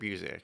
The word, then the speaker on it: Busiek: It's Kurt Busiek.